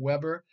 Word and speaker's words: Weber: and number two is Max Weber pronounced Weber not Weber and he talks about